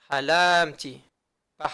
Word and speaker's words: halamti: Donc quand ce sont des verbes qui sont au passé, ça va être prononcé mille'el. En général, lorsque c'est la première personne. Halamti. Pas halamti.